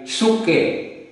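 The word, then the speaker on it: ψυχή: At ang sabi sa Greek, ang Greek word ng soul ay suke. O yung spelling po nito ay P-S-U-C-H-E. Suke ang pag-pronounce.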